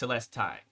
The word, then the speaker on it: Telestai: Zach from celesti and I've been saying it wrong neoa Community kills me Casper Community kills me everybody rips into me it's telestai I've been saying it